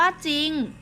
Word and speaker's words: จริง: คำ ควบ ไม่ แท้ เขา จะ ไม่ ออก เสียง พยัญชนะ ตัว หลัง นะ คะ จะ ไม่ เลย เขา